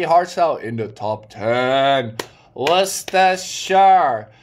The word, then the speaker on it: Worcestershire: Worcestershire. You pronounce it as W-U-S-T-U-H. Worcestershire. S-H-R. But you write it WORCESTERSHIRE.